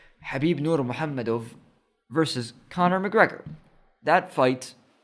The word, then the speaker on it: Nurmagomedov: versus connor when habib nurmagomedov or let me just say it right why did i say the american eyes way habib nur muhammad versus conor mcgregor that